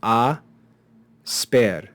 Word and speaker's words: asper: at a couple examples we have asper which we looked at before the consonants s and pay can begin a word so they're kept together and the word is divided into syllables before the S pair combination so we have ah spare spare is treated as one consonant